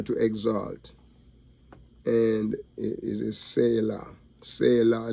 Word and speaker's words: Selah: Selah, like the last, it is like you say, the way it's pronounced in the Hebrew is like the last letter is like law, like the Torah, spelled just like the Torah, you know, Selah. Okay, and so it comes